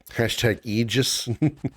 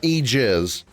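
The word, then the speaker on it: Aegis: We can use ether turbo ethers # eegis. Well, that's how it's pronounced. Eegis, not egis.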